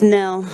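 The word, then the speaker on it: Knoell: I know it looks like Noel. I'm married in. It's Nell. I used to carry a visual that said the K is silent and the O is silent, and one of the L's is silent.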